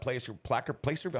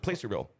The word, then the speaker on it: Placerville: Samantha, we need some support for our Hangtown 100 Placerville. How do you say it? Placerville? Placerville.